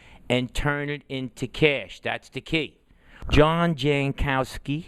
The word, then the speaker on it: Jankowski: John Jankowski, right? That's how I pronounced it?